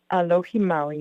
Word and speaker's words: Alohi Maui: Alohi Maui, yes. I love it. I love that little turn instead of aloha. Alohi Maui.